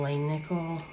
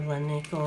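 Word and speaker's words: Langnickel: is a good um it's Royal and Lane Nickel or Len Nickel or how I've heard people say it a million different ways. I just say royal ling nickel. Um but if I'm saying it wrong, correct me.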